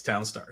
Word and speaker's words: Townstar: So, well, we're going to call it Townstar because that's what it tells me it is Townstar. So, and that's 2 syllables. That's a lot easier to say.